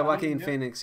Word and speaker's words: Joaquin Phoenix: Was it Joaquin Phoenix? Is that how you pronounce his name? Yeah, Joaquin Phoenix. Yeah, that's it.